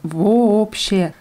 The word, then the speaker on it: вообще: Das wird mit zwei O's geschrieben vorne. Вообще. Aber ausgesprochen wird es вообще.